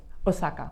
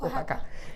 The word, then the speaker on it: Oaxaca: Osaka, in Mexico, no? Osaka, I pronounce what? Oaxaca.